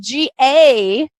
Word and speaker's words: Gawith: Now, it's spelled Gawith, but it's pronounced Gawith, from what I understand.